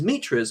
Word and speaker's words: mitra: And these mitras or mitras, how do you pronounce it? Mitra. Mitra? Oh, I was right the first time.